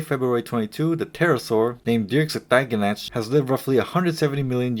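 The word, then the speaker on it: Dearc: Its scientific name, pronounced as Dierks means winged reptile in Gaelic.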